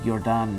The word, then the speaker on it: Jordaan: While you can take a canal tour from different locations, a popular starting point is the artsy Jordaan neighborhood, pronounced just like the famous basketball player, Michael Jordaan.